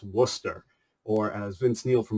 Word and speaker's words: Worcester: wonder how that's pronounced that's pronounced Worcester or as Vince Neil